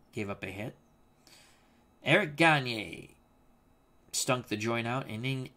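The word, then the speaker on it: Gagné: Bob Cole, hey Al, if I may, as someone from Quebec, Gagne is pronounced Gagne. Greg Gagne? I thought they always said Gagne.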